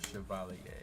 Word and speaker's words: Chevalier: Victor Chevalier.